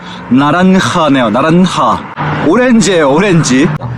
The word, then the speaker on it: naranja: 요거 나란자 나란자가 아니라 방금 검색했더 그제가 호다 호다라고 해서 발음이 이렇게 되는데 나란하네요.